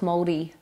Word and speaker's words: Māori: Got to roll the R so it's Māori. Māori. Almost like Māori, like think Māori cheese. Māori cheese. Every time I look at you, I think Māori.